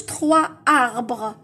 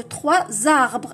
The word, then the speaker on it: trois arbres: اخي قلنا ننطقوها زد، قلت لكم هذه اسمها لا ليزون، ما نقولوش 3 اربغ، نقولوا 3 زاربغ.